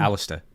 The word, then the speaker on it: Aleister: E in, but I like that you say Aleister. Well, that's what I'd actually called him that just and said, Aleister, come here. That's not that. How do you say his name again? Just Alistair.